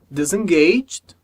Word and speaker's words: disengaged: Ok, então a gente tem a palavra disengaged e a palavra disciplined. Então na primeira palavra, disengaged, o último E não é pronunciado. A gente junta o som do G com o som do D.